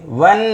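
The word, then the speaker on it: one: तो एन लगा द वन way ticket पहले व तब नन तो पहले व साउंड आया तो बिगिनिंग साउंड हमारा कौन सा है यर लव में व आता है या नहीं कंसोनेंट साउंड और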